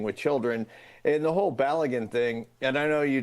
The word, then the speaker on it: Balogun: To me, Belgium protesting the allowance of, how do you pronounce his name? Balogun. Yeah. Of Balogun coming back in.